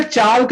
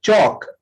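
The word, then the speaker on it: chalk: ए आया है, इसलिए चाल्क नहीं बोलेंगे, चौक, एल साइलेंट।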